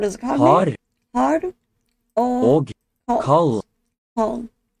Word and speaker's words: kald: Og kald. Cold. Don't pronounce the D at the end.